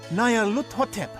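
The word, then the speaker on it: Nyarlathotep: This phrase is pronounced Nayar-hut, or more likely, Lut-hotep. Nayar-lut-hotep, that's it!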